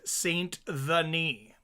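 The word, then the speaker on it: Saint Denis: if people are interested J Mike pronounces S Denise like his Denise that's how you pronounce it Mike oh like his niece the nice oh am I mispronouncing his name oh like Saint the knee I get you like the knee oh Den I get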